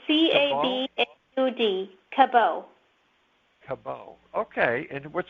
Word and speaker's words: Cabaud: It's Cabaud. It's a French name. So it's Cabaud.